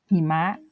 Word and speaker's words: หิมะ: คำ ต่อ ไป ค่ะ คำ ว่า หิมะ หิมะ เห็น ไหม คะ ออก เสียง เต็ม เสียง เลย เนาะ ต่อ ไป ค่ะ